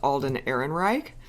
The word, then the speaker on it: Alden Ehrenreich: The guy who's playing young Han Solo, who we believe his name is pronounced Alden Ehrenreich, there were reports that an acting coach was